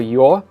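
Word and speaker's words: ё: So the rule says that in open syllables, it's pronounced as is, yo. For example, yol, yol. But in a closed syllable, or when preceded by a consonant, yo is blended in with the consonant, and the y part of it kind of disappears a little bit, and it does affect the consonant too.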